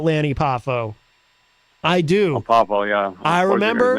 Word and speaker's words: Poffo: Do you care about Lenny Papa Lanny Papa? I believe it's pronounced Poffo. Do you care about him or just Macho Man? I do care about Lanny Poffo. I do. Oh, Poffo, yeah.